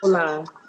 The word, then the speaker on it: hola: Whenever you see the H at the beginning, the H at the beginning is mute.